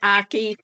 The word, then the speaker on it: Akey: Next is Representative Sally Akey. I hope I pronounced that properly. It's pronounced Aki, rhymes with hockey.